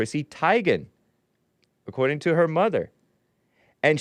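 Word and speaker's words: Teigen: because it sounds E before I right Chrissy Tagan but it's actually pronounced tigan according to her mother and she knows it but other people other people uh pronounce it Tegan or whatever I guess Chrissy Tegan you guys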